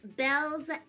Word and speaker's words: Baelz: chaos um so yes my name is pronounced bells hey class um next